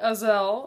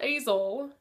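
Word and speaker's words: Aysel: Okay, anyway, this book is about a girl named Azel, not Azel. It rhymes with gazelle.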